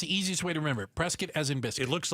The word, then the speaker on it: Prescott: The one that starts with a P I'm gonna go with prescuit. Oh, I'm gonna go with that. That's correct. Not prescuit. Prescuit. Prescuit as in biscuit. That's the easiest way to remember. Prescuit as in biscuit.